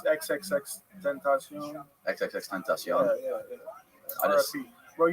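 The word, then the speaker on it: XXXTentacion: How do you say it? I mean, I think it's XXX Tentacion.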